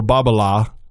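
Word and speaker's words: Babolat: what what Nadal did for bobble ah by the way that's correct pronunciation even though Bruce has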